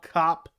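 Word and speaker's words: Kape: that his name is his last name is pronounced cop but that's the way it's supposed to be I want to say cape so badly every time I see it Manel cop on the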